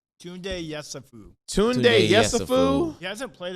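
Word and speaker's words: Tounde Yessoufou: Tunde Yesufu.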